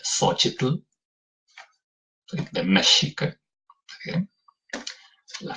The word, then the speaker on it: Xochitl: Su facilidad o no, con la mal llamada J, porque no pueden pronunciar la sh de Xochitl, ¿sí?